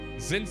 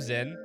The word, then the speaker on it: Zin: Yeah, but in the Sky games, if you listen to the Japanese voice acting, they call him Zin. It's never pronounced Jin. It's pronounced Zin.